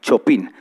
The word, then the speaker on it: Chopin: Entonces habían grandes compositores que, por ejemplo, uno que se llamaba Chopin, se escribe Chopin, como la choricería famosa, ¿sí? Como chopinar, pero sin el ar, Chopin.